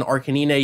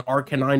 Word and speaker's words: Arcanine: here thankfully not in arcanina yet or in Arcanine depending on how you want to pronounce that the growl falls asleep